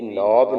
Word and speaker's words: knob: English का सबक कल हमने पढ़ा था 2 लफ्ज, जो कि है आपके सामने KNOB, नॉब।